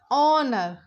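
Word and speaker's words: honour: ऐसे ये एन ऑनर ऑनर ठीक है तो यह जो एच है य साइलेंट है और इसकी साउंड निकल रही है ओ ओ मींस वॉल्स तो इसलिए हम यहां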